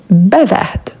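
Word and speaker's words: bavarde: Ici aussi, on prononce le d au féminin. Bavard.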